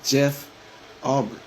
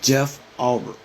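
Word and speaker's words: Jeff Ulbrich: So I kind of hope you stood on business when you got on Jeff Arbrick. And they keep saying that man's name wrong, bro. It's Jeff Arbrick. That's how you pronounce his name to all the other guys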